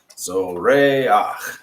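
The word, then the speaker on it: זוֹרֵחַ: That's our furtive patak there under the het at the end. So we say ach and not ha, and it moves our emphasis back 1 syllable. So zoreach.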